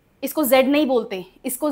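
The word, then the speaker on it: ballet: T silent होता है। और यह एक फ्रेंच वर्ड है जो कि इंग्लिश में एज इट इज यूज किया जाता है। इसको फ्रेंच में भी बेले ही बुलाया जाता है।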